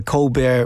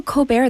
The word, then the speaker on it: Colbert: interview like like, "So, Colbert, that sounds very French." And he's like, "Well, it's actually just Colbert, but I wanted to sound interesting." So, he went with Colbert.